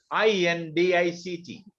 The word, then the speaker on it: indict: do you pronounce this i-n-d-i-c-t indeed here c is not pronounced at all we would say in